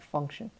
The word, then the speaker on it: function: a specific job the function and in the pronunciation you see that t-i-o-n that t is making an s-h sound function function like a